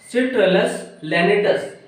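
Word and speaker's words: Citrullus lanatus: वानस्पतिक नाम से, जिसका वैज्ञानिक नाम है सिट्रुलस सिट्रलस लैनेटस। सिट्रुलस की स्पेलिंग हो जाएगी CITRULLUS, सिट्रुलस लैनेटस LANATUS, लैनेटस।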